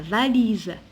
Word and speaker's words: valise: On a la voiture, la vache, la vache, la valise. Ici, je prononce SZ parce qu'il est entre deux voyelles. Quand on trouve un S entre deux voyelles, je prononce le SZ.